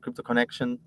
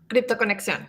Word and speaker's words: Crypto Conexión: Crypto Connection? Crypto Conexión, because we say it in Spanish.